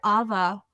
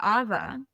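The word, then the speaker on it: ʻawa: first little like personal Awa ceremony with my friends. So I'm sitting there, and as we are drinking the Awa, it's spelled AWA. The W is pronounced a V here in Hawaii.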